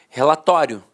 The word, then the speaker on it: relatório: Então, antigamente, todo mundo falava a pronúncia paroxítona terminada em ditongo. Falava assim, ó, relatório, relatório. A penúltima sílaba era a sílaba mais forte e a última, de fato, perdia a força.